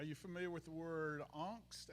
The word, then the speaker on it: angst: familiar with the word angst a-n-g-s-t yeah that's how it's pronounced in german we call it angst